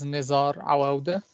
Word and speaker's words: Nizar Awa: your presentation so uh my name is nizar awa that's the correct pronunciation if anyone was wondering